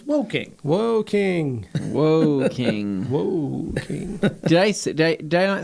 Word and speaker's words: Woking: chocolates from my advent calendars and anthony it's pronounced walking it's walking woking whoa king whoa did i say did i